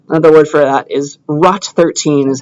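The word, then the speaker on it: ROT13: Caesar Cipher uh another word for that is rot 13 is how I'll pronounce it and it stands for rotate rot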